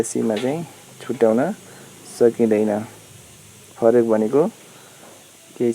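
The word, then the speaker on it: 这: च। यसको क्यारेक्टर चाहिँ यस्तो रहेको छ, अनि उच्चारण च रहेको छ।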